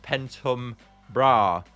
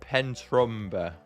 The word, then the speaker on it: Pentumbra: Oh, and Pentumbra is based and pronounced Pentumbra, not Pentrumba.